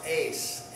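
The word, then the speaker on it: εἷς: a sound right so the epsilon iota diphthong works the same way so it would be pronounced ace ace so ace one what's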